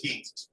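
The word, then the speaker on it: Küng: Escribe U, pero es Hans King, que murió recientemente, yo creo que el año pasado murió él.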